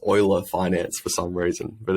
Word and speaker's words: Euler Finance: sort of like D5 protocol called it's actually pronounced Euler Finance for some reason but it's I always thought it was new La yeah yeah yeah but anyway I love for